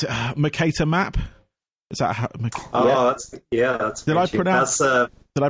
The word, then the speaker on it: Mercator: no I really enjoyed that in it's a Mercator map yeah did I pronounce that you did yeah no I have